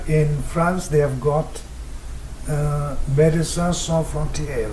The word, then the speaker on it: Médecins Sans Frontières: Well, I may sound not very professional if I do that, but in France they have got Médecins Sans Frontières, right? Am I pronouncing correctly? Parfait.